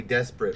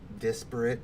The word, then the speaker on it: disparate: completely desperate from each other. So that never They're happened. desperate. Disparate, You said desperate.